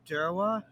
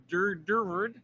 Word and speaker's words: Durward: Kalab Durwa. It's Durward, Yep, I I believe think it's German or I believe it's German.